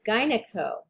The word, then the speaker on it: gyneco: the next one is gyneco and in that case you do pronounce the g and then for blood